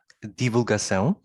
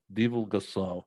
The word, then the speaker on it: Divulgação: So and also for that word, if you would please just pronounce it. Divulgação. Divulgação.